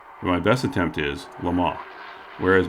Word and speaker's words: Le Mans: Since I can't speak French, I may not get this right, but my best attempt is Le Mans, whereas most Americans pronounce it as it is spelled, Le Mans, and that includes myself,